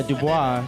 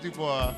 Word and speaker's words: Du Bois: Like you think the name, and then people think it's French. Yeah, Dubois. And people pronounce it Dubois, but if you read his writing, that came over there. Oh yes. Oh yeah. And if you read his writings, it's Du Bois. Like he spells it out that way.